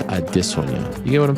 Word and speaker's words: Adesanya: the point across that it's not adesanya it's add this one yeah you get what